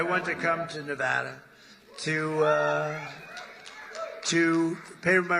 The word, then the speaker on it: Nevada: heard of it and don't ever mispronounce the name you're not allowed to do that you you mispronounce the name you got a problem you ever see somebody when they say it's Nevada Nevada no they're they're in